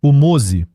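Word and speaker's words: MOSE: plus coûteux d'Europe : MOZEI. Ce nom est un acronyme italien, mais sa prononciation évoque Moïse, ce qui est symbolique.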